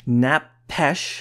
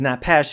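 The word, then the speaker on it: nephesh: Well, that word is often napesh. I'm not pronouncing it perfectly, but it's napesh, and that means a soul, a living being, a life, self, person.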